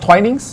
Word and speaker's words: Twinings: the 71 that's fine oh it's pronounced twinings yeah you can say twinings or twinings you know yeah both of them are fine I've experienced that silent